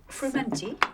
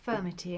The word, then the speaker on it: frumenty: Would you like some more of this frumenty? Yes. Is that the right pronunciation? Yes, it is actually. Sometimes people call it furmity and it's Oh. spelt a different way, but quite often that would be the sweet one.